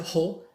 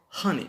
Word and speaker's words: honey: We don't say ho, we say honey between A and O.